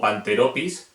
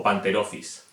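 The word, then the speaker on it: Pantherophis: PH se pronuncia como F. No sería Pisignatus o Panteropis, sino Fisignatus o Panterophis.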